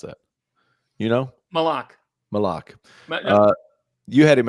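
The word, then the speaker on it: Maluach: Kaman Mulach? Malak? How do you pronounce that? You know? Malak. Malak.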